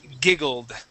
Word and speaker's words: giggled: Ed ending here okay I want to get a D sound so instead of a t you would said giggle G this would be giggled giggled good all right so let's